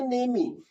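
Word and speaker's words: name: ऐसे ही अब इसमें वही नेम को नेम ही बोलने लगे तो कैसा लगेगा? वो समझ में नहीं आएगा। What is your नेमी? ई भी बोलने लगे तो कैसा लगेगा? खराब लगेगा। तो ई साइलेंट होता है।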